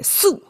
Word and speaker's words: 宿: So, the per- person, okay, su is the pronunciation.